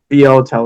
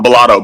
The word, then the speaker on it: Bilotto: We are joined by Hellboy Kell and Boto. Is that how you say your name correct? No. Bolato, Bolato, Bolato versus Bolato.